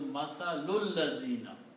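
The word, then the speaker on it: مثل الذين: And these two will be combined and will sound, one dhamma will not be pronounced, so this will be mathalul lazina.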